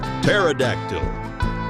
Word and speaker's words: pterodactyl: I don't even carrier pterodactyl the p is silent utilizing Courier practices from